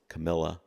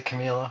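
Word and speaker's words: Kamila: Camila. I always pronounce her name the way I want to. We I always say Camila.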